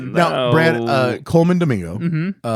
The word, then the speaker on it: Colman Domingo: Now, Brad, uh, Coleman Domingo. Uh, now say his name like you're supposed to. Coleman Domingo.